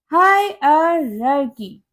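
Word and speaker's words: hierarchy: Next है हमारा word हायरार्ची। नो, इसकी करेक्ट प्रोनाउंसिएशन होती है हायरार्की।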